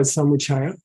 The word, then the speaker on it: Samuchaya: this book first of all let's call it Samaya okay which is how you pronounce it h it's not how you spell